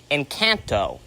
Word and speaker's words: Encanto: Encanto, or as my mom wants to pronounce it, Encanto.